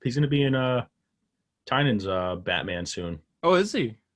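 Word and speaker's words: Tynion: The correct pronunciation is Tynan, not Tinian.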